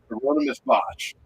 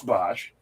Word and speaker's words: Bosch: correct me because I always say this guy's name wrong. Hermione is Botch or Hieronymus Botch. Hieronymus, yeah. Hieronymus. Oh, so close. Anonymous Bosch.